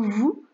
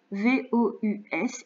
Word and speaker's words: vous: apprendre par cœur que le mot vous V o u s il s'écrit comme ça qu'il faut le prononcer comme ça vous d'accord et comme il se termine par un S parfois on a besoin de faire la liaison vous allez vous allez on relie les mots ramer porter vous